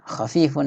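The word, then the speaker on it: خفيف: Khafifun ini ya teman-teman, tapi kurang jelas, tapi bacanya khafifun.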